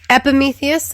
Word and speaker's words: Epimetheus: How's it pronounced? Epimetheus and Prometheus, yes.